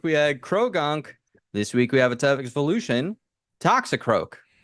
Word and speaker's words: Toxicroak: This week we have a type evolution, Toxicroak. Toxicroc.